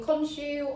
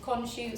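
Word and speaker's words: Khonshu: changing my pronunciation because you can call him konju or and sometimes just cons so much like his corporeal form his name can also change however the tv show sticks with conshu so i will try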